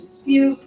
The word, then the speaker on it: Spujdt: My last name is Spujdt, and it rhymes with cute.